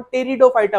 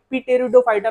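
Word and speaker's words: Pteridophyta: तो म्हणजे आपला टेरिडोफायटा टेरिडोफायटा स्पेलिंग जरी पी पासून चालू होते तरी आपण टेरिडोफायटा म्हणू पी टेरिडोफायटा नाही म्हणणार आता पहा सगळ्यात पहिले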